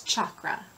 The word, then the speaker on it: chakra: these wheels of light the pronunciation for those wheels of light in Sanskrit is chakra okay so I am